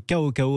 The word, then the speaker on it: CaoCao: hausse à ces cris ko ko avec un cem et c'est un nom chinois c'est pour ça qu on le prononce ainsi sa rolls c'était j'avais